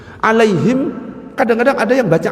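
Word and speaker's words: عليهم: Alaihim kadang-kadang ada yang baca alaihum tapi ya enggak usah aneh-aneh.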